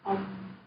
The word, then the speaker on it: ông: know that grandpa means ông. Very good. And if you want to pronounce the ng ending, you just close your mouth and like hold some air.